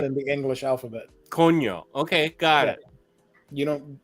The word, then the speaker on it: coño: We say coño. You say what? Coño. Coño? Yeah. Yeah. How do you spell that? That's going to be difficult to say in English. C-O... N-L-L-Y-O? L-L-O, right? No. Wait, what are we spelling? Coño. Damn it. C-O-N-Y-O. Enya is a letter that's not in the English alphabet.